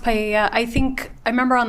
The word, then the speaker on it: paella: going to be used to cook paella. I'm not sure if that's how you pronounce it at the party. It's pronounced paella.